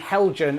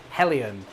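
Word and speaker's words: Heljan: Yes, it's the same thing with people saying Helgen, and it should be pronounced Hellion, I believe. People always get annoyed at me when I pronounce it correctly. So it is dapole and Hellion, and not dapole and Helgen.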